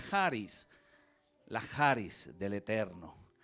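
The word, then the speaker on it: χάρις: s la escritura k h s pero se pronuncia haris la heart is del eterno parís de dios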